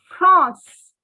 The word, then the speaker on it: France: what is your nationality now france is trans in french the spelling remains the same only only the pronunciation goes france france okay so from there